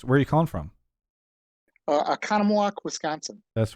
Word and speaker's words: Oconomowoc: Oconomowoc, Wisconsin. That's right. Okay, because I think I tried to say Oconomowoc, and You struggled actually with it. did pronounce it correct the first time.